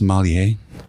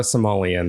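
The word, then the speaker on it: sommelier: The only person I know is is it pronounced Somalier? Yes. Okay. So, you're what did you say? Somalier. Somalier. Somalier. Not a Somoleon. That's a different thing.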